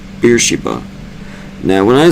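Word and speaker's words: Beersheba: Wait, wait, wait. Beersa. I mispronounced the damn thing. Damn it. So, I reread this one since I up. It's Beersa, as I meant to say the entire time.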